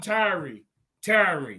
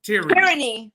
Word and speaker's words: tyranny: a book The Hidden Tyree tiring I'm not pronouncing that right tyranny thank you tyranny 1976 the silent